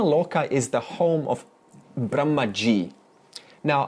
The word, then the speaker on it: Brahma: Now, Brahma Loka is the home of Brahmaji. Now, Brahmaji is not Brahman, because Brahma, that's a long A at the end.